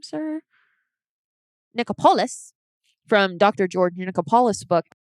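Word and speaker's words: Nichopoulos: George Nicholas. Is that how you say his name, sir? Nicopolis.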